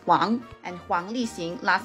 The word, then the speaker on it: Wang: include Wang Lee Hong last name pronounced as Wong and Huang lisin last